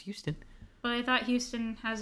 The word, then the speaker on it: Huston: director is also also H us and it's pronounced Houston but I thought Houston has a oh who